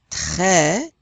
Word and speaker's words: très: How is this word pronounced? It's got the accent grave. Très. Do we pronounce that S? No, because it's not one of those 4 vowels in the word careful.